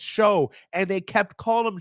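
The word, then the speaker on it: Shough: They kept calling him Tyler Shuck, Shouck. Tyler Shuck. Then somebody got a hold of the commentators or whatever. They were like, "It's Show," and they kept calling him Shoe.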